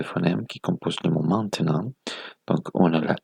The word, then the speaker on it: maintenant: Donc, on a 5 phonèmes.